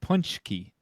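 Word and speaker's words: pączki: Danish uh so uh p a z that's pronounced punchki and so so I guess R A RZ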